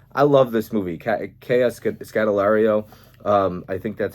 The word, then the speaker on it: Scodelario: Kea Scodelario. I think that's how you pronounce her last name, but I really like her as an actress.